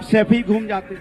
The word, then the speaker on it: सैफई: आनंद, गरीबी देखनी है ना, तो सफाई में जाके देखिए 500-600 करोड़ जो सैफई तो बोलना सीख जाओ। सफाई नहीं है, सैफई है।